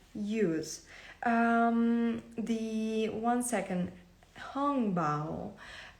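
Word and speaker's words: hongbao: um the one second hung bow uh angb you may hear it as well as a pronunciation it's written as h o n g b a o um you can find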